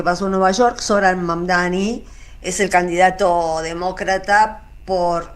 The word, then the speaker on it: Mamdani: Fíjense, nadie sabe pronunciar mi apellido. Es Mamdani, pero a cada rato me dicen Mundari, Mumnari.